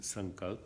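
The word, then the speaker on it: Sankalpa: Pronounced Sankalp, written as S-A-N-K-A-L-P-A.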